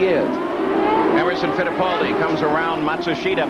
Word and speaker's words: Matsushita: Emerson faldi comes around Matsushita by the way that's the pronunciation that now hero himself has asked all the announcers to use we know it's not the same pronunciation that the family uses or he uses in Japan but it's what he wants let's go to Gary